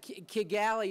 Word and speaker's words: Kigali: is that we've never Kigali Kigali that Kigali is the way you pronounce it in Geechee that's what we speak